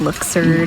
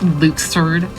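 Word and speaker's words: Luxord: a looser luke sword luxured absurd hey i gotta thank violin for telling me how to correctly pronounce his name cough cough it's luxured that's apparently how it's pronounced in uh the games himself i never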